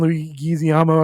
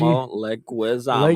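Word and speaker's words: Leguizamo: John Lu Gizyama. I can never say his name. Plays Luigi. Leguisamo.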